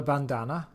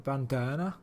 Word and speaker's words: bandana: Not a bandana. A bandana.